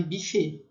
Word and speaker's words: buffet: Então, a gente encontra gente que fale buffet e gente que fale buffet, né? A pronúncia teria aquele biquinho, buffet.